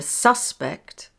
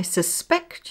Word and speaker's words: suspect: The noun has stress on the first syllable, You are the suspect. The verb has stress on the second syllable. I suspect you.